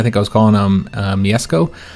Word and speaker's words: Mieszko: I think I was calling him Mieszko. Apparently, the SZ are the sh sound, like a SH, so there'd be Mieszko.